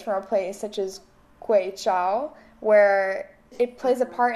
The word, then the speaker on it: Guizhou: And through working with traditional artisans in, is it, I'm not exactly sure of the pronunciation, Guizhou? Guizhou.